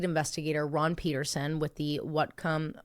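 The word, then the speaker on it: Whatcom: 3 days after Mandy disappeared, lead investigator Ron Peterson with the Watcom W. It's spelled like what? Whom? Wacom.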